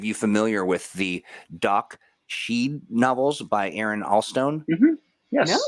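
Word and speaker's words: sidhe: not sh sorry s-h-i-t no it's s-i-d-h-e and is it she is that would she okay gotcha um uh john asks are any of you familiar with the doc sheed novels by aaron allstone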